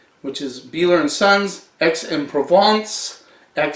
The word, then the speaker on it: Aix: is Beeler and sons XM provides that says the town in provence if you ever see AIX you pronounce it X this one you know